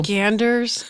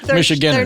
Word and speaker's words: Michiganders: Michiganders? I don't even want to say it. It feels bad. No, there was no D in my pronunciation. Michiganders. There needs to be.